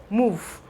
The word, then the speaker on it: move: This E here is actually silent. We have move.